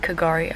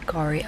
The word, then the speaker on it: K'gari: Also, I was just informed I've been calling it Kagari Island, but it's actually just Gari Island. You don't pronounce the K.